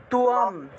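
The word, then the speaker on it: ত্বাম্: তাহলে তয়বয় থাকলে আর অনুসার থাকলে উচ্চারণটা হবে তুয়াম, অনুসারের পরিবর্তে ম উচ্চারিত হবে।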